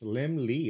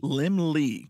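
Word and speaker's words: Laemmle: little lamb and is pronounced as if it were spelled lim lee okay yeah i'll never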